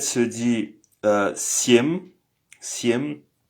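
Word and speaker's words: семь: Cetiri 4 c'estri et 5 c'est piat 6 se dit chest chest 7 se dit siè siem 8 se dit vosem 9 se dit viat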